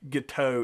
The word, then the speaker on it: Guiteau: up so charles guiteau i've heard it pronounced giddy a guiteau is more accurate based on anyway so